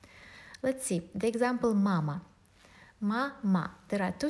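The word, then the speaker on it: мама: Ma-ma. There are two syllables, two vowels. The first vowel, a, is stressed mama, and it's pronounced with full sound, but the second one is not stressed.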